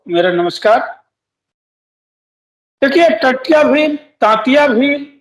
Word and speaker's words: टंट्या भील: जी, स्थानीय बोली में उसको टंट्या भील ही कहा जाता है, टंट्या भील ही कहा जाता है। जी। अंग्रेजों ने उसे तांतिया भील लिखा है। हुँ, अंग्रेजों ने जो स्पेलिंग का इस्तेमाल किया है, उसका शाब्दिक अर्थ निकलता है तांतिया।